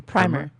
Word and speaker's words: primer: this word is a primer it's not proven it's a primer it's primer I always said hi but I think East Coasters say primer no in emotional there's the